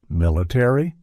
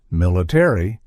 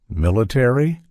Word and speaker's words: military: to a pronunciation like military where the a Fades away in American English however we pronounce it fully military aai let's revisit this